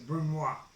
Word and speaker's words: brunoise: A Brunoise, well, I shouldn't pronounce the S, it's a Brunoise.